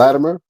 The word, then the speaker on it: Latimer: Latimer, which is where you say Latimer. I say it with a it almost sound like a D.